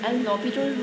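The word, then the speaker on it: L'Hôpital: So from this not hospital rule, it's pronounced as L'Hopital rule.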